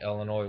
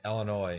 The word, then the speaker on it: Illinois: oh yeah I'm from Illinois no you're not because you pronounce the S uh and there's Chicago